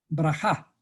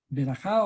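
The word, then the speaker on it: ברכה: De paso, los judíos cuando hacen sus oraciones están pronunciando bendiciones. Y esas bendiciones, se dice, una bendición, el Creador dice brajá, ¿no es cierto? Berajá o brajá.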